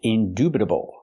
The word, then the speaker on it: indubitable: The word is pronounced indubitable. We have to use the oo sound like food and moon. Indubitable. Not indubitable.